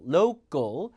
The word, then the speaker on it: local: 그거를 알려주는 수업을 들어야 돼 왜 여러분이 그렇게 발음을 해야 왜냐 하라 듣거든요로 로입니다 글 local local PBS 그죠 동네 맥주집이 많았는데 지금은 these